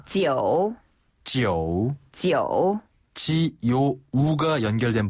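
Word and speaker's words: 九: 지요 우가 연결된 발음인가요? 그렇죠. 지요 우가 연결된 발음인데요. 지요. 밑으로 내려갔다가 위로 살짝 올라오면 됩니다.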